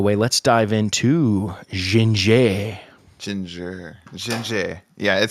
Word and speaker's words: Jinjer: be French doesn't it kind of Ginger just sounds like a word you would want to say with by the way um I guess I guess you know if you're looking at this but it's spelled j i n j r not like the food yep there we go